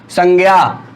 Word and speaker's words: संज्ञा: क्या है की संज्ञा पुं0 क्या होता है संज्ञा यह क्यों होता है उच्चारण एनसीपी ठेर टीम ने कह दिया जो